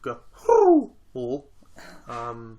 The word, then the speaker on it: Ga'Hoole: The Owls of Ga'Hoole. That's how it's pronounced.